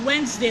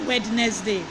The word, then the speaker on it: Wednesday: then Wednesday nothing when nothing is Wednesday not wetness day listen and fasten not